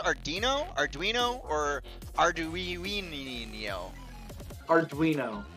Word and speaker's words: Arduino: Arduino. With like a W. Like a ween. There's a ween in there.